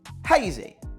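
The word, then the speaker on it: Hayzy: So, for example, me with hazy, I couldn't spell it h e y z y because the caller would pronounce it as hazy. So, I had to send it over with saying h a y z y. So he pronounced it hazy.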